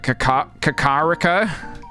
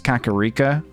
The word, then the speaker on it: Kakariko: Yeah, when I was younger, I used to say Kakariko. But, yeah, I think it's Kakariko.